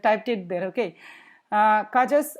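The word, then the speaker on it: cujus: it there okay uh kaja's or uh uh you can also pronounce as kayas or whatever okay kaja's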